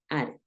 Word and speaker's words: added: Acuérdate, si termina en D o si termina en T, lo vas a pronunciar básicamente igual. Added. ¿Listo? En este caso, como termina en D, added, added. Tiende esa D repetida a ejercer un sonido como de R, ¿no?